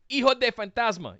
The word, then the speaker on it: Hijo de Fantasma: It's de, not del. Yeah. Why are they doing del? Del, I can understand why. I've mixed that up sometimes too, of the Fantasma, but it's of. Yeah.